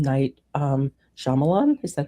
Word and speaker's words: Shyamalan: Night Shyamalan, is that how you say his name?